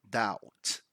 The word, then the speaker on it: doubt: this word we don't pronounce the B so we don't say doubt we just say doubt right so benefit of